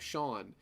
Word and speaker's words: Seam: think that it's pronounced seem and then he tells you oh yeah it's pronounced like Sean his name is sheem